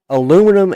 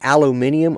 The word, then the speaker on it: aluminium: Yeah, but Dominic, did you know that both aluminum and aluminium are both the correct pronunciations for that?